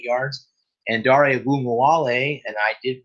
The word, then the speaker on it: Ogunbowale: And Dare Ogunbowale, and I did pronounce that correctly, it took me a while